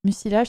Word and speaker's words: mucilage: Mucilage, ça s'écrit M-U-C-I.